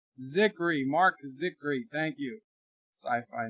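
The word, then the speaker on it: Zicree: Sci-Fi says, bird of prey, it's pronounced Zikri. Zikri, Mark Zikri.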